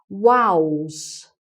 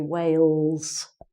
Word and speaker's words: Wales: with a very strong accent um tends to pronounce it like wows not whales but wows which is like saying